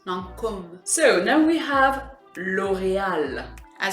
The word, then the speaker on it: Lancôme: Then we have Lancôme, or as we actually say in French, Lancôme. Yeah. So you want to make sure that that O, it's really an O sound, Lancôme.